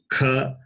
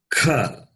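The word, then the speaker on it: ख: And then kha. Say Ka. kha. What is the difference between these two? Ka and kha.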